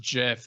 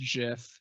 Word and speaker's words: GIF: clipboard I like the GIF of that is just terrifying I think you mean the gif it's pronounced Jif the Creator said it's pronounced Jiff death of the author